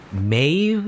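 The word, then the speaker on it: Medb: It's like it's spelled Med, you know, but it's actually pronounced differently. It's like Maeve, I believe. It's like Maeve, something like that.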